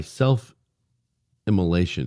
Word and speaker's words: self-immolation: whatever you want to call it, activist, and he, by self-immolation, did I pronounce that correctly?